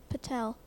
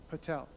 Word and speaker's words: Patel: I are dois boudoir please spell Patel but Patel can I have the language of origin this